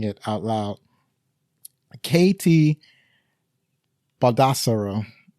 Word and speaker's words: KT: KT Baldassaro. And it's the letter K, the letter T, not Katie.